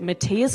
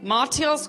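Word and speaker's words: Mathias: the finance minister's name is it Matias Corman Matias Corman it's actually maras Corman did you know Adam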